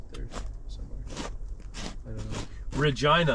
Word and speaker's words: Regina: somewhere I don't know Regina the city that rhymes with fun they that's a that's